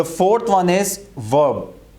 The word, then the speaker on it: verb: The fourth one इज वर्ब. इसको आपने वर्ब नहीं कहना, वर्ब. आर की साउंड नहीं आएगी इसमें, वर्ब.